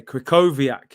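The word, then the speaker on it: Krychowiak: names man uh ermey i said you have to spell w as v my g all right so okay krykoviak yeah there we go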